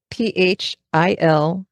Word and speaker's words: Philippics: And it's spelled like Philip, Philippics. Philippics.